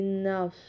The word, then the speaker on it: نفس: صاد ساکن نفس دی نفس۔ صاد کی تلفظ کا خیال کرنا، نس نہیں کرنا، وہ اس کا اندر ہوگا سین ادا کیا آپ نے۔ دی نفس، صاد پڑی